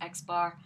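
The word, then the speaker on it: x̄: a line over top of it so it's pronounced as x bar so if you ever hear or read x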